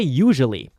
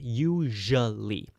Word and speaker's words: usually: How do you say usually? And you say it with a zh or like a J sound. Usually. Usually. And not your. So, a lot of people add an R sound, but we say usually.